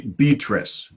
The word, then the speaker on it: Beatrice: I cried to beat rise be trees be Beatrice Beatrice trace to our peace and she made